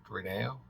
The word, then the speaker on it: relleno: it's Chile reeno soup reneo soup Spanish it has the two elves next to each other so I think it's pronounced with the Y sound so Chile Rene R